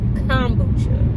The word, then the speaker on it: kombucha: I didn't at the time, but I know now it's pronounced kombucha.